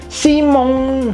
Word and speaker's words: Simon: Nah, ini kombinasi ON itu teori pelafalan bunyinya ong ke atas, bukan ong ke bawah ya.